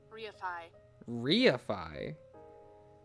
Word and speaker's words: reify: verification huh we um Ray Phi definition I was just pronounced reify okay that makes sense